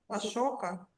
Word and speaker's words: asoka: We call it, Ашока. we, we pronounce commonly.